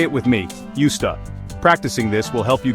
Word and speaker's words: used to: where many Learners stumble when we say used to we often blend the words together so it sounds like USTA this blending makes the phrase flow more naturally in conversation it's not used like the verb to use which rhymes with fused the pronunciation is different because of the context in which it's used instead it's more like USTA this subtle difference can